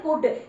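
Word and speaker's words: could: जैसे देखिए सी ओ यू एल डी, जब भी ये इकट्ठी स्पेलिंग कहीं पर भी आ जाए तो उसको आप बोलोगे कुड।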